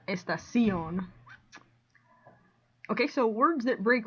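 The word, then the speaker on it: estación: mark on the o this one also breaks rule number one the stress is on the last syllable not the next to the last one so that's why it's estacion not estacion okay so words that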